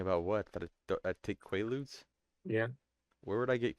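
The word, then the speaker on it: Quaaludes: You've been taking qualuds. They're pronounced quaudes and they're not distributed in America.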